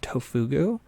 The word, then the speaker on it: Tofugu: There's a website called Tofugu. It's just spelled like tofu, G-U. It's Tofugu.